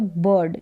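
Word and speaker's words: bird: अर करके भी और अगर और ज्यादा करेक्ट पढ़े तो बर्ड यानी अ ही उच्चारण हो रहा है आई आर का या फिर अर र का साउंड आधा आधा उच्चारण तो बर्ड मतलब पक्षी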